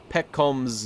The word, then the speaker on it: Pekoms: P coms P coms one piece it is pronounced hold controlled y'all god you're right it's Peck combs ooh pickles Peckham's pet combs okay I have